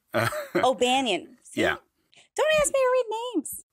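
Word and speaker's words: O'Bannon: I'm going to correct you on the pronunciation there. It's the Dan O'Banion. O'Banion.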